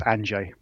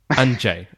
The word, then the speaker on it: Andrzej: You're close enough. It's Andrzej. Andrzej. Okay, fantastic. We both have Polish background, so I'm trying my best, but of course I don't speak Polish either. So you got right. It's Andrzej's the one that gets everyone. They all kinds of pronunciations. Yeah, the R and the Z, that kind of pronunciation is not an easy one.